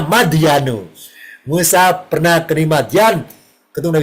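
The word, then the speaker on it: مدين: mim dal ya nun apa bacanya bukan Madiun kalau Madiun dekat Ponorogo Jawa Timur ini bacanya madyanu.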